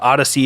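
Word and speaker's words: Odysee: heard of is odyssey i believe odyssey is spelled o d y s e e but if you're looking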